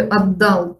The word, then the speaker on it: отдал: В слове «отдал» вместо «т» мы говорим «д», потому что соседний у нас идет звук «д».